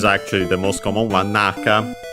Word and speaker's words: Naka: Naka should be accent on the first syllable regardless.